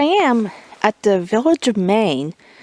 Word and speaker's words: Mayne: chest here I am at the Village of Maine it's not spelled like the state of Maine it's SP m